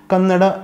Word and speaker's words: Kannada: we say it "Kannada". However when alpa prana is at the end of the word, North Indians seem to drop it when they pronounce that word.